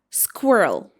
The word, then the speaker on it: squirrel: How do you pronounce this cute word? It should be squirrel.